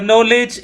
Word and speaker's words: knowledge: bacanya ke knowledge Iya lebih parah lagi ke Knowledge is power rupanya salah pronunciation jadi knowledge knows ya Iya Knowledge is